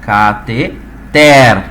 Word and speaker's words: cateter: Fabrício, a tonicidade se encontra no ter. Então, quando a gente pronuncia essa palavra verbalmente, a pronúncia tem que sair da seguinte maneira, pessoal: cateter, tá?